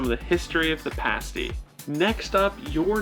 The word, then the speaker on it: pasty: the u.p is the pasty and it is important that you pronounce it correctly pasty not pasty that's a completely different